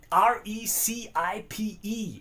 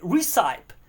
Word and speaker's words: recipe: I've been calling it a recite. R E C I P E. How would you call it? CYP. Like a site. Like recite. And now I learned No, it's a recipe.